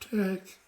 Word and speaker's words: TeX: a program called latex even though people um see it spell t-e-x it's really pronounced Tech and you should pronounce